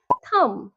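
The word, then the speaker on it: thumb: ভুল সঠিক উচ্চারণ হবে থাম থাম লাস্টের বি সাইলেন্ট প্লামার এটাও ভুল সঠিক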